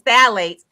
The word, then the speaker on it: phthalates: So it's a group of chemicals called phthalates, and it's spelled kind of weird. It's like PHTH. Okay. I always get it wrong. But anyway, it's phthalates. And phthalates are a group of